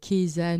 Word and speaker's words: Keyza: Keza. Alors, ça s'écrit avec un K-E-Y-Z-A Ouais.